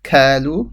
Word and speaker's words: قالوا: Qo. This is the qaf. Do not say as a kaf. Kalu.